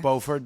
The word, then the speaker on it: Beaufort: So yeah, we're at the Savoy Hotel at the, how do you pronounce it? The The Beaufort Bar. Beaufort Bar.